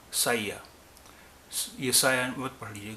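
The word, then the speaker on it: saya: اس میں 4 حروف ہیں اور چاروں کا الگ الگ تلفظ ہوگا. سا، ایس، سا، پھر ای، پھر آ. سایہ.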